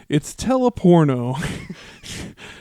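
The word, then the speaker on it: Telporno: It's teleporno. Spelt exactly teleporno. as it sounds. Yeah, Tele porno is how you spell it.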